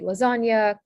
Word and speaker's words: lasagna: zz sound and then nia which is the n plus y sound pronounced mia is spelled the gn in italian um and so examples of this would be lasagna carmignol and anyolati um